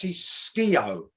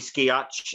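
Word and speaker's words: Skeoch: bring it on that's ski-o scale you don't pronounce the c and the h it's just all right cool there you go good to know so anyway jeff keith and tommy ski arch i just [ __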